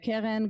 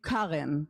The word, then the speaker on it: Keren: And in the world, you have the name Keren. You have Keren, and this is Keren, it's a bit different.